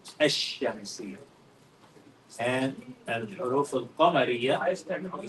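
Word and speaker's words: الشمسية: We don't say al-shamsiyah. We say ash-shamsiyah.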